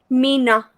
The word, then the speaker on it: Mina: Mina. Mina. Oh, Mina. With an Mhm. M. It's close, but it rhymes. Yeah. Mina and Nina, that rhymes.